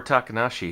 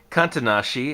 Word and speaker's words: Takanashi: uh beats our poor takanashi here all the time or kantanashi as propriocean always mispronounces his surname and yeah so we